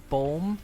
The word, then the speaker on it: boom: Well, yeah, but it's always because the Dutch word for tree is bulm, but it's spelled B O M.